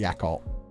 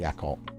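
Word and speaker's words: Yakult: for it okay definitely in Britain they say it yakal how else do you guys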